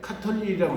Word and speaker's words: 가톨릭: 카톨릭인데 우리는 읽을 때 카톨릭이라고 읽죠. 쓸 때는 어떻게 써야 돼요? 가톨릭이라고 써야 됩니다. 그러니까 틀려.